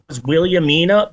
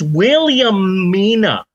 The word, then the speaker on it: Williamina: thought her name nay I assumed her name was William Nina but no it's William Mina okay like a female William it's not Willamina it's